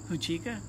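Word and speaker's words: Huichica: Can you pronounce the name of the festival? Huchica? I might be saying it wrong. Huachica.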